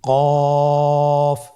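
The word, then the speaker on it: ك: কাফ উচ্চারণের ক্ষেত্রে অবশ্যই পাতলা করে উচ্চারণ করতে হবে এবং 3 আলিফ টেনে পড়তে হবে।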